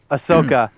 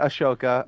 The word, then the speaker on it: Ahsoka: go for tip for Tat uh we got Ahsoka huh oh you said it right yeah look at you uh we got Asoka um oh I know that was on purpose